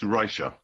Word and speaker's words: Reicher: It's Christopher Dye has it perfectly right. It's Reicher. Actually, it's not Reicha. It's a guttural Polish pronunciation that I can't do.